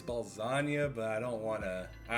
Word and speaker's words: Balzania: I don't know how to pronounce. Balzania, yeah, it's Balzania, yeah, It is Balzania.